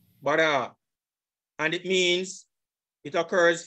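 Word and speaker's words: בָּרָא: If I click on that word, here's the pronunciation. Strong's H1254. Bara. Bara. Bara.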